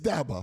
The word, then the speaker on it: Dabo: second because uh you say Davo, you say Dabbo. How do you say it? It's Davo.